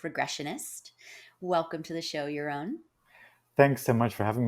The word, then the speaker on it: Jeroen: Welcome to the show, Jeroen. Thanks so much for having me, Barrett. And thank you for pronouncing my name so well, because that's not always easy.